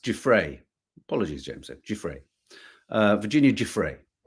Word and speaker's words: Giuffre: Guiffre, pronounced Guiffre.